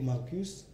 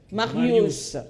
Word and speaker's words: Marius: Bazaka mibale, bango ka mibale, zaka ndeko Marcus. Eric, maître Eric, il faut bien prononcer mon nom. Marius. Je ne suis pas Marcus.